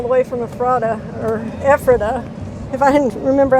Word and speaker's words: Ephrata: been dragging all the way from efrata or ephrata if i didn't remember how to say it ephrata pennsylvania so adios trailers you've been good trailers